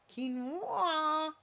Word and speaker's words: quinoa: June that's not how you pronounce this it's pronounced quinoa it reminds me of you know come folk